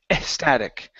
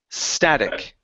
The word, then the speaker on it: static: so here you said estatic so remove the e sound in front the word is s static static static okay good